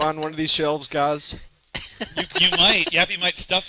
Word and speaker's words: Gaz_A: Yes, it is a silent A.